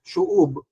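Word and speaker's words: שׁוּב: And in the Hebrew language, ito pong recover or restore, it's the same word sa Hebrew that is shob. Ang ang pronunciation dito shuob.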